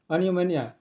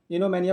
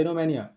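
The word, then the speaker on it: oenomania: Obsession for wine, जिसको शराब की लत हो, शराब के लिए बहुत ज़्यादा ऑब्सेशन हो, उसको आता है अनियोमेनिया, इनोमेनिया पढ़ा जाता है, वो साइलेंट रहता है, इनोमेनिया।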